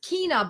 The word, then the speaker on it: China: the abbreviated word for it is China sometimes pronounced kena but China CH I na not Cinna don't get this